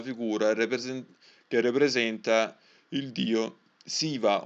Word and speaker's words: Shiva: che rappresenta il dio Siva, o mi sa che si pronuncia Shiva, che sta praticamente dentro una ioni, quindi entra a una forma ovale che ricorda appunto lo piccione.